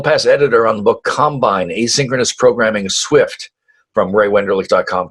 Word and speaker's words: Combine: Yeah, which now I guess we should we'll get to this later, but it's Combine, it's not Combine, right?